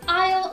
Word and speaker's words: isle: goodbye our fourth group of triple homophones is isle isle and isle now this one is a particularly tricky one because two of those have a sneaky silent s in them if